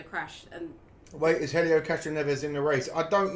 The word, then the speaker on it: Castroneves: And she went, Castroneves. I was like, okay, are you sure? She went, yeah. I was like, okay. listen, I also read the name wrong. I thought it was Castro Nueves, like snow.